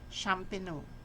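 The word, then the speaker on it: champenoise: method of champino okay so it pronounced champino okay so next is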